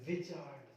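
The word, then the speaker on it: witch: कीजिए नो अगला गैस विचार इसका मतलब होता है जादूगर इसको विच पढ़ेंगे और इसमें भी व्यक्ति को साइलेंट रखना है की की से पहले टी साइलेंट होता है और कहां-कहां होता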